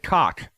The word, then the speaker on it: Koch: Doug Koch, spelled K-O-C-H, but pronounced how I said it.